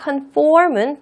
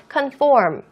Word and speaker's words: conform: 신경 써서 해 주세요 confirm conform 발음이 조금 다릅니다 근데 빨리 말하는 외국인이 있으면 우리가 자칫 잘못해서 잘못 이해할 수도 있으니까 그것까지 좀 생각해서 유념해서 발음해 주세요 conform conform conform 자 그러면은 이번에는요